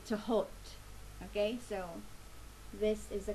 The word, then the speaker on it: Thoth: Okay, today I'm using the Thoth Tarot. Some people pronounce it as Thoth, Thoth, or Thoth, but in Arabic it is actually Tahot.